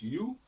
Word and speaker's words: you: Alors, le OU se prononce à la française, disons-le. Même dans you. Un Français qui apprend l'anglais, quand on lui dit you, se prononce you, évidemment, ça ne le surprend pas.